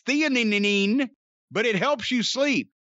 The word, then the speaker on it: theanine: I don't know how to pronounce that. And nano CBD. It's theanine, but it helps you sleep.